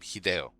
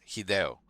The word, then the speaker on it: Hideo: That's how you pronounce his name. Hideo. Okay, everybody out there. It's Hideo.